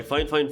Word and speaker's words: Fifine: Here you have the Fifine name, it's pronounced Fifine by the way.